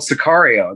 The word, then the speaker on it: Sicario: Sicario. No, go ahead. It's called Sicario.